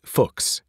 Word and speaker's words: Fuchs: sometimes caused people to pronounce it in a somewhat embarrassing way the solution for English speakers pronounce it to rhyme with books as a college student